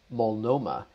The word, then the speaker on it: Multnomah: When I Googled this, the pronunciation guide actually said Multnomah. And I was like, what? I thought there was a T there.